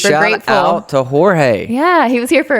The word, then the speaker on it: Jorge: not as good as he does, but it's Jorge.